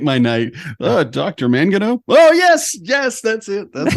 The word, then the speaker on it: Mangino: It's Mangino. Please say Mangino. Make my night. Dr. Mangino?